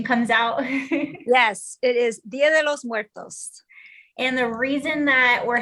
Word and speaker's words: muertos: And would you please go ahead and say it so that the right pronunciation comes out? Yes, it is muertos.